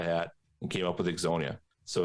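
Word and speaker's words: Ixonia: trying to you know exonya is the town that we farm in so exonya is i-x-o-n-i-a and it was formed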